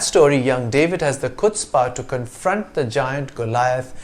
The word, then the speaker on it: chutzpah: It came into English from Yiddish in the 1890s and was first transliterated as chutspe, which gives you a clue to the pronunciation of the first syllable.